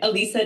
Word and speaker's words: Alisa: say your first name say it it's okay Alisa Alisa she's a naturopathic doctor certified